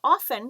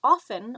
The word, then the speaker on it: often: and cookies home now often you can pronounce often or often doesn't matter either way is completely completely fine so you could say